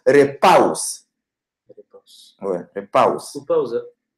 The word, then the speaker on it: repaus: Repaus.